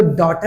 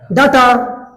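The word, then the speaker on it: data: देखो अभी भी ऐसी आ रही है, बाटा, टाटा, आटा, डाटा। डाटा इट इज a wrong pronunciation, इसे बोलते हैं हम डेटा।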